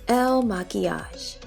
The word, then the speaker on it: Il Makiage: the ads on Instagram I don't know how to pronounce it I lied it's Elle maquillage here it is it's